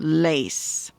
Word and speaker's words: lace: to a s sound well we add the silent E so when we do that we add the silent E we change this to a and this to a a sound lace okay so go ahead